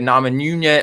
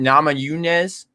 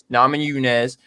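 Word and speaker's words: Namajunas: two um we had nominee or how do you say your name nama yunez yeah nam and yunez and then we had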